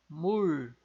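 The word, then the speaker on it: 물: Vejam que tem esse som de LR meio enrolado no final, né, em função do lialo, nosso LR que está enroladinho aqui embaixo na posição ali de patim. Então, a gente vai pronunciar assim, mur.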